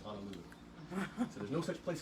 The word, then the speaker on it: Honolulu: about how he says Honolulu. So there's no such place as Honolulu. Do you see any A's in the word H-O-N-O? No, it's Hono, right? Hono means bay. Honolulu, deep water bay.